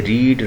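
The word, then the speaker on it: read: हैज़ रेड a book, तो रीड जो है इसकी सेकंड फॉर्म और थर्ड फॉर्म रेड पढ़ेंगे, स्पेलिंग यही रहेंगे जैसे रीड, रेड, लेकिन इसको पढ़ेंगे रेड।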